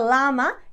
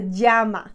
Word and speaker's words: llama: women's pronounce for example the word llama the animal is not a llama it's a Jama unajama the double El